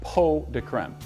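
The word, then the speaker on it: pots de crème: chocolate po de creme it's spelled pots to creme but it's actually pronounced po de creme and it loosely translates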